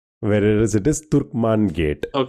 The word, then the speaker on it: Turkman Gate: So in William Dalimple's book he says that people sometimes mis hear or misquote or mispronounce the name as Truckman gate whereas it is Turkman gate.